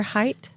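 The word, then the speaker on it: Haidt: out loud once uh Jonathan does anybody know for sure height h a i DT it sounds right you said it with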